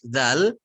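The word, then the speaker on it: ذ: Secara makhraj itu secara tempat keluarnya, dzal dengan zo itu sama. Ujung lidahnya dia digigit. Dza, zo, ya, secara makhraj. Akan tetapi kalau huruf dzal dia cenderung lebih tipis.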